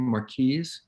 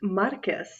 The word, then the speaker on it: Marquis: Business Maria stutzman Marquis is that how I pronounce your last name Marquis you know it's Marcus Marcus okay it should be MRC